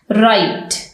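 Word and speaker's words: write: अब हम silent W के वर्ड्स देखते हैं। राइट, राइट, लिखना। रिस्ट, कलाई। रैप, लिपटा हुआ। रॉन्ग, गलत। इन सब लेटर्स में आप देखें, वर्ड्स में आप देखें कि जो डब्ल्यू का लेटर है वो साइलेंट है।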